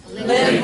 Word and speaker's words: live: do you pronounce this live live live live live live live yes make sure you put your teeth on your bottom lip again live live live